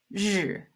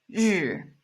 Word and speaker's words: 日: It's 日. 日. It's not like a rolling tongue pronunciation. It's 日. 日. In Chinese, we don't pronounce this as like a rolling tongue sound.